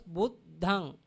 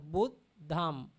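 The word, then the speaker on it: Buddhaṃ: We call the end of the nasal sound, we call Buddhang. Pronounce Buddhang. Buddhang. Dhammang. Dhammang. Sanghang. Sanghang. If someone cannot pronounce the nasal sound, he can follow the makar. Buddham. Dhammang. Sangham. They have the chance, but we have to follow Nigahita first. If cannot, we can pronounce makara, alphabet.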